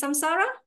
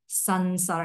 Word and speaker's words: samsara: I always thought it's samsara, but I heard Goshila say it should be samsara. It should S-A-N, right? We heard him saying, but in many books, even in the class notes and all these things, it's spelled as S-A-M-S-A-R-A.